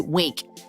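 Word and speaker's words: Winc: All right, guys, I want to introduce you to Wink. You spell that W-I-N-C.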